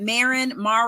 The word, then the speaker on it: Marin: Her name is, now Tracy, I'm saying Marin. Is it Marin? Yep. How do you pronounce it? Okay. Marin's good. Yep.